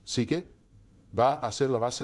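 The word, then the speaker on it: ψυχή: Lo siguiente es, la magnetita tiene suche, y esto es importante porque esta palabra suche, que ahora pronunciamos psique, va a ser la base de la idea de la psicología como disciplina.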